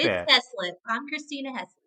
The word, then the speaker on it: Christina Heaslip: Christina Heaslip. Close, but it is not correct. It is Christina Heaslip.